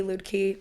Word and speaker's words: Luedtke: either tell people like if ludky's hard i'm like lid key loot key whatever you want at some point you